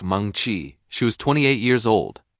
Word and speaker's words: Mengqi Ji: Her name was Meni Gi, pronounced Mongchi.